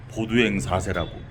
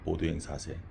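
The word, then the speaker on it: Baudouin IV: 보두행 사세라고. 좀 프랑스 이름 같은데 이거 열 영어로 하면 볼드윈이에요. 볼드윈. 영어 이름은 볼드윈 있잖아요. 근데이 프랑스식 발음으로 보드 사라고 보통 발음을 하죠. 보도행 사세.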